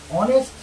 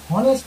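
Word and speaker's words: honest: আর অনেস্ট, হনেস্ট ম্যান বলবো না, না হনেস্ট ম্যান বলবো না, অনেস্ট ম্যান, তাহলে অ্যান অনেস্ট ম্যান। কেন বললাম, এইচ উচ্চারণ এখানে নেই, সাইলেন্ট, তাই।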